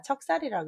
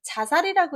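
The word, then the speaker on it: 척살: 의 의미 2개 인데요 여기서는 자살이 아니라 척 쌀이라고 있습니다 자살이라고 이렇게 되면 혼음 있긴 있지만 스스로 죽는다 라는 말과 겹치기 때문에 척 쌀이라고 표현한다고 합니다 할까 일어 질러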